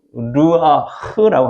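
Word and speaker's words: רוּחַ: 하나님께서 마른 뼈들에게 불어넣으신 생기는 히브리어로 르아흐라고 합니다. 해볼까요? 르아흐. 그래서 흐 발음을 이렇게 가래 끄듯이 르아흐 이렇게 하라고 옛날에 교수님이 가르쳐 주더라고요.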